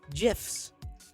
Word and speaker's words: GIF: keeps on giving yes gifs that's how you say it for real uh the way you say jiff reminds me of a peanut butter and now i'm eating